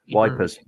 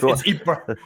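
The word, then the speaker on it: Ypres: No, it's EPRA. It is RA, but the British called it wipers during the time because we're British and it's just easier to bastardize names.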